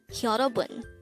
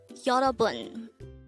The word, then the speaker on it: 여러분: YEOREOBUN. This is pronounced as a three-syllable word. The first syllable is yo, second syllable is ro, the third syllable is bun. Pronounce it with me. YEOREOBUN. YEOREOBUN.